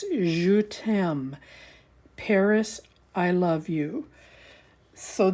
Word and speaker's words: Je T'aime: look that up to make sure I was pronouncing it right but it's JM Paris I love you so this is what